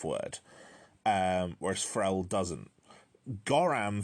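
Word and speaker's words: gorram: Goram feels like, because of the ending and the start, phonetically it feels very similar to saying goddamn, like really quickly, goddamn.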